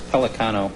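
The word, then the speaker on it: Pellicano: It's Pelicano. You know how Pelicano? We all know how it's pronounced.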